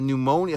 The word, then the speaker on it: pneumonia: A pneumonia. First of all, it's one of those words that's hard to pronounce. Pneumonia. What the fuck? Pneumonia. But where's the P? I hate silent letters.